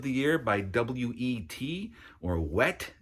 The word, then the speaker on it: W.E.T.: or Wet. It's written W.E.T. Pronounced Wet, obviously.